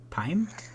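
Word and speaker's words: Pym: Marvin no oh is Hank uh Pim Prim how do you say that no pime are you talking about Ant-Man yeah PM yeah doesn't he have yeah it's it's Pim Pim is it doesn't he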